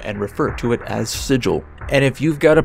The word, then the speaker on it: Sigil: The name of this city is Sigil, kind of like you're saying Siegel really fast. A name that I instinctively read as Sigil, but it is in fact Sigil.